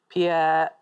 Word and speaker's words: Pierre: But I think I think the Americans don't pronounce it. Pierre.